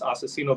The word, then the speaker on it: Aczino: too like as far as like look this asacino battle there's a reason for it you know